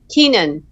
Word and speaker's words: Keenan: last name kenan how do you say it again keenan okay yeah keenan like keenan williams how you doing pleasure